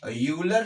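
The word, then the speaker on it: Euler: Venn diagram बनाया था दो मैथमेटिशियंस ने मिलके, जिनमें एक यूलर साहब थे। यूलर बहुत लोग इसको आइलर भी पढ़ते हैं, तो उनके ऊपर डिपेंड करता है कि वो क्या इसका प्रोनाउंसिएशन कर रहे हैं।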